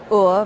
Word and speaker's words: Ur: It's actually pronounced Ur, my surname.